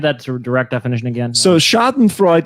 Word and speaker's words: schadenfreude: direct definition again so schadenfreude or shot and freud as as it can be pronounced yeah could be the